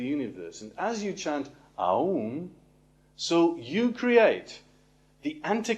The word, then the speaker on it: Om: the guided meditation of ohm which is the guided meditation of enlightenment and it says that all is composed of three syllables ah whoa and M because ohm is enlightenment